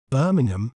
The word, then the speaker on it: Birmingham: do we say its name correctly we may pronounce it as Birmingham Birmingham bar Min gum Birmingham Birmingham is a major cultural and economic